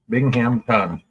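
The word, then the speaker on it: Binghamton: today wow binging the I how do you spell that b i n g h m t o n Bingham ton there it is B to the YK I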